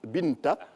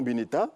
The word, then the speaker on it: Binta: Mais pour la petite histoire, il s'agit de Mamadou et Binta, et non Binita, pour celui qui a écrit pour la première fois. Il a craint d'écrire qu'on lise Binta, donc il a mis un E, qui s'est prononcé finalement Bineta.